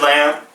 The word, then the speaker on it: Lamph: yeah my name is lamp LEM pH the H is silent t9t lamp yep on